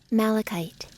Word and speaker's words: malachite: you can actually play the way it sounds malachite malachite wow i was saying that totally wrong for a very long time malachite malachite is the name of that look we